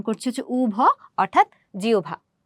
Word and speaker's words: জিহ্বা: এই কারণে আমরা এটার উচ্চারণ ওভ না করে আমরা এটার উচ্চারণ করছি হচ্ছে উভ অর্থাৎ জিওভা।